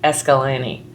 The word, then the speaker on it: Escalante: Um and they pronounce it Escalani. So I might say Escalante because I don't live that great.